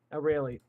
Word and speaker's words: Aurelie: How do you pronounce her name? Aurelie.